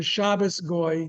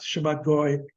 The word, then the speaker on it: Shabbos goy: Now, there arose the custom is called the Shabbos Goy, to use the Yiddish pronunciation, Goy Shabbat, Shabbat Goy.